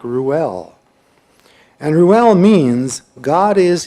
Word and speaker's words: Reuel: It was Reuel, which I suppose is pronounced something like Ruel.